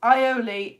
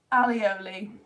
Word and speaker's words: aioli: Garlic mayo in French is aioli, not alioli.